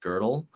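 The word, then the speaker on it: Gödel: you heard of uh girdle uh I have not girdle g o d l but the O has like a double dot and so it's pronounced girdle and um uh he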